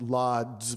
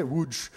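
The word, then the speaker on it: Łódź: in a place that looks like it's it's pronounced lads but it's actually you said um i i'm not kidding i didn't that's how they say wooj um little outskirts of wooj um you know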